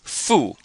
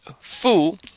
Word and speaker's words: fu: we have here is Fu and Fu you have a u following an f and in pinion this u sounds just like the uh U that you're familiar with after Buu so just